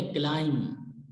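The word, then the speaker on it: climb: उसके बाद जब बी फाइनल पोजीशन में आ जाता है तो बी को प्रोनाउंस नहीं करते। फॉर एग्जाम्पल पहला वर्ड है क्लाइंब, ये क्लाइंब नहीं है, यह है क्लाइंब। बी को हम प्रोनाउंस नहीं करेंगे, बी साइलेंट है इसमें, क्लाइंब।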